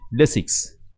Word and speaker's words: Lesics: A small introduction of Y sound makes a huge difference. Moreover, that our word has an S sound also in the end, right? Lesics.